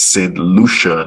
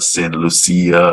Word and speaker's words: Saint Lucia: of the islands correctly it's Saint Lucia not sin Lucia uh it's Dominica it's